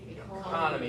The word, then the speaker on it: economy: Economy. Yeah, some of y'all want to say economy. Y'all keep stressing that third syllable. I stress the second one.